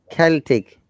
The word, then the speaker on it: Celtic: there is always exception so it is celtic in this case but the pronunciation celsius and celtic is almost the same cal and cell when cell c sounds like sar and calls c sounds like car that is sa at